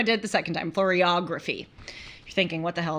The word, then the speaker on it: Floriography: And it was about Floriography, or actually it's said Floriography. I looked this up so I can say it right.